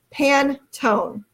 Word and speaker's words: Pantone: so Caroline's telling me it is pronounced pan tone so now I know